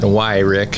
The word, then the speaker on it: Wyrick: I just say it's like a question. Why, Rick? Why, Rick?